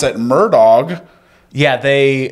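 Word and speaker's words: Murdaugh: Alex but they pronounce it Alec and it's murall and they pronounce at murdog yeah they say their name these guys they're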